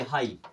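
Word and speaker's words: high: या स्टार्टिंग में आए एक छोटा सा वर्ड देखिए हाई कितनी बार आपने पढ़ा होगा अब जीएच यहां लास्ट में आ रहा है इसे हम क्या पढ़ते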